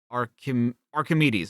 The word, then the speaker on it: Archimedes: A as in far. K as in kind. Arc. High. K as in kind. Archi. Wait. E as in fleece. D as in die. Kit. Okay. Archimedes.